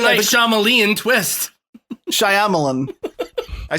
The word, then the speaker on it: Shyamalan: There's a Y in there. What's it doing there? You're right. There is a rogue Y in there. It's being real quiet.